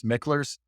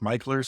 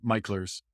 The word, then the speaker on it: Michler's: And typically we pronounce this Micklers, but this is a family name and they say it's Michler's. So if you want to sound local, then talk about Michler's Landing.